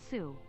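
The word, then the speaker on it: Sioux: by building this i give myself sue is pronounced sue sue is pronounced soup thank you so much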